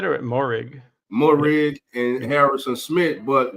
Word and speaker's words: Moehrig: How you pronounce it? You said it, Moehrig.